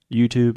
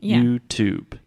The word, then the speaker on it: YouTube: opposite of saying YouTube because we are pronouncing the T Here YouTube is a traditional true tea YouTube YouTube yes yeah here